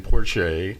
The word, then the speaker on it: Porche: um um porch por Porche am I pronouncing your name correctly sir I I am hi my name is Porche okay good I as well as a bunch